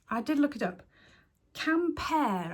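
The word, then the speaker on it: Quimper: Camper, I think it's pronounced. Spelt Q-U-I-M-P-E-R.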